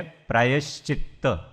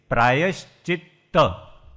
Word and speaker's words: प्रायश्चित्त: તો પ્રથમ છે प्रायश्चित्त. पहला तो उसका प्रोनाउंसिएशन सही से, प्रायश्चित्त. 2 त हैं, हम प्रायश्चित प्रायश्चित ऐसा बोल देते हैं, पर चित्त शब्द है. प्रायः और चित्त 2 शब्द है उसमें.